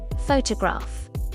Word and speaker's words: photograph: Photograph. Photograph. The stress is on the first syllable.